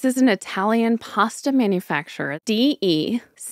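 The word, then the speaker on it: De Cecco: D-E-C-E-C-C-O. Deco. Okay. It's DeCecco.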